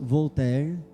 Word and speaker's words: Voltaire: um Pensador francês chamado Voltaire ou pronunciando em francês vou ter do século 18 e